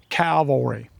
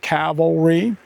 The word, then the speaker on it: cavalry: Oh, I'll be the first to admit I have a problem with the pronunciation of the word calvary or cavalry. Um I do know that the word is cavalry.